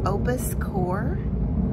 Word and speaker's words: Opus Ko: This is pronounced Opus Core, Opus Core.